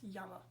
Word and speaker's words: llama: And then this, the double L always makes the Y sound, so that's a little bit tricky, but you would pronounce that A.